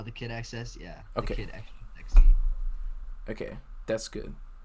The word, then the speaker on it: thekidxs: if you support me that's how i pronounce that that's how you pronounce your name right uh the kid access yeah okay okay that's